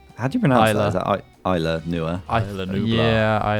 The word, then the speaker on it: Isla Nublar: How do you pronounce Isla. that? Is that Isla Nua? Isla Nublar. Yeah, Isla Nublar, something like that.